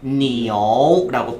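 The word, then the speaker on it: 牛: 자, 다음에 이 소도 한번 읽어볼 텐데 소는 니, 우 아니고 아이, 유 사이엔 항상 오 집어넣기로 했죠. 그래서 니오라고 표현을 하시면 돼요.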